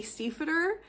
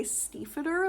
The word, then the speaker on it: Stiefvater: me to pronounce it the correct way, which is the American way, and not actually the traditionally correct way, which is the German way.